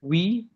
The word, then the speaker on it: huit: huit, With the T is huit. there, the H is silent.